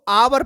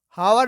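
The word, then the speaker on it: hour: इसको आवर पढ़ते हैं, क्या पढ़ते हैं, आवर, हावर नहीं पढ़ते, इसको आवर पढ़ते हैं।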